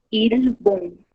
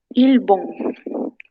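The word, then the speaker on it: 일본: Ilbong, ¿ok?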